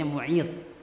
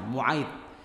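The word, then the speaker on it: Mu'ayt: Nabi punya teman kecil namanya Uqbah bin Abi Mu'aid. Ibu bisa baca tuh sejarahnya ya. Uqbah bin Abi Mu'aid. Di dalam spelling lain dibacanya Mu'id, tapi yang benar dibacanya Fathah, Mu'aid.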